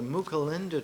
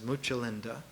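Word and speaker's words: Mucalinda: third tree is called the mulinda tree sometimes pronounced in ancient times muchalinda a big flowering tree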